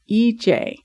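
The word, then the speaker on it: EJAE: and the music was written by EJ. So that is spelled E J A E. It's not initials, it's it's a word.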